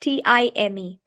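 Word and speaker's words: thyme: is t-h-y-m-e then next t-i-m-e both sounds like time okay time maybe the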